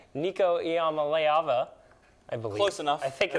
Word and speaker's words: Nico Iamaleava: And when you're looking at the quarterback across from him, who's a freshman, who we're still learning how to say his name, Nico Iamaleava, I believe.